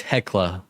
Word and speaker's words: Hecla: It's not Helca, it's Hecla. I always say it wrong.